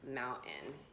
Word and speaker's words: mountain: The first word is mountain. okay so notice you didn't hear a mountain or mountain. A lot of people want to say it with even a D. Mountain. I just didn't say the T.